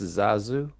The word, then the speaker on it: Zazu: His name is pronounced Zazu.